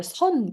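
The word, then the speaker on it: Seon: also practiced Chen Buddhism or Zen Buddhism or sun Buddhism in Korean pronunciation but it uh but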